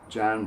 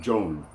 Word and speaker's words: John: And that my first name, John, when we take it into Spanish, Spanish speakers always pronounce it Joan. Joan. My name is Joan. And in Arabic we pronounce it the same way because the vowel is the same. Joan. Joan. Ismi Joan. Me llamo Joan.